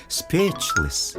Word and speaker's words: speechless: 이 영어 발음이 어렵긴 한데 speechless.